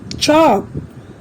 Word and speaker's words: chalk: seen in these words here also L remains silent calf chalk fork almond in these